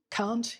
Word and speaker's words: Kant: And then so Kant he he he he want K can't K can't K can't K can't K can't K can't yeah K can't you're right you've got the right pronunciation Kant wants to um